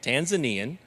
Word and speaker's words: Tanzanian: Tanzanian is the way you pronounce it.